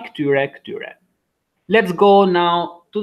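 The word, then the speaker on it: këtyre: Kti, masculine, ksai, feminine, or pronunciation, kti, ksai, or just kti, ksai. And in plural, ktyre, the same, ktyre.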